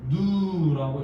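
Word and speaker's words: ν: 저쪽에 어디 여백에 적혀 있을 수도 있는데 에너지는 누 V 약간 고물팅하게 적고 이거는 발음할 때는 누라고 있습니다.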